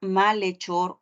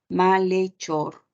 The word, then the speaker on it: malhechor: caso de la palabra malhechor ocurre lo mismo que en la palabra alhaja no lee Ahí está Le malhechor Ok la H no tiene sonido no le presto atención a eso le presto atención a